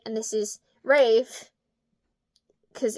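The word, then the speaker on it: Raeve: As an assassin for the rebellion rate, see it's spelled like mave. So it's like ra it's So Mave is M A E V E and this is Rave cuz it's the same R A E V E.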